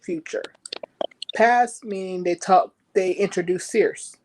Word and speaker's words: Circe: Past meaning they introduced Circe. I think I pronounced her name right. Cersei, like Cersei, the Lannister.